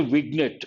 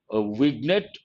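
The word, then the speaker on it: vignette: this usually we say wiget but actually g is silent illustrates there are two important words here let us see the meanings then I'll will continue with the sentence wiget usual pronunciation in our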